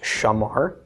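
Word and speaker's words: שָׁמַר: And we come up with shin komets mem patach resh, pronounced shamar, shamar.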